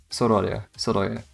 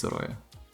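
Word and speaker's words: Sorolla: see it still, but Sorola is how you type the word, but I don't know exactly how you pronounce it. I think it's Soroya.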